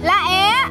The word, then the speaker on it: lá é: À lá é. Nhưng mà phát âm cho đúng mà. Lá é. Lá é. Lá é. Phải bể lên.